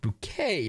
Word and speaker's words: Bucket: that's the joke um her name is hyacinth bucket it's spelled bucket but she's pronounces it bouquet don't you know she's trying to be fancy